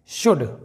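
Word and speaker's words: should: अगला एग्जांपल देखते हैं शुड यह है दोस्तों शुड यहां पर डी के पहले एल साइलेंट है शुड इसका मतलब होता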